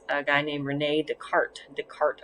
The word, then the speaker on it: Descartes: guy named renee descartes descartes i believe is the proper pronunciation occasionally you will see